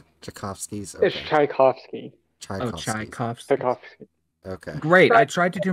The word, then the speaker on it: Tchaikovsky's: days previously was also retrieved excuse me it's pronounced Tchaikovsky's great I tried to do my Karen impression